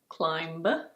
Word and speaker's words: climb: This word is pronounced: climb. It's not "climB". It's: climb. Climb.